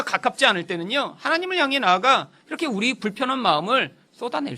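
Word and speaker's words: נא: 히브리어는 나라고 읽는 아주 짧은 단어인데요, 사실 하나님이 아브라함한테 제발 이렇게 해주렴.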